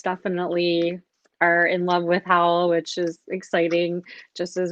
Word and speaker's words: Howl: that's an acronym um howell you know that's about how h-o-w-l and rhymes with owl i like owls like